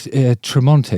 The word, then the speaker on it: Tremonti: So learning to play for real, presumably that's like, because you guys and it's Mark Tremonti, isn't it? Mm-hmm. Am I pronouncing that correctly?